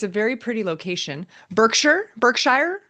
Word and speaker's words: Berkshire: Berkshire? How do you want to do that? The Berkshires? No, it's Berkshire.